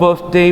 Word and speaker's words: birthday: To your birthday party, ke pesta ulang tahunmu. Okay. Ini pengucapan, lihat mulut Ustadz.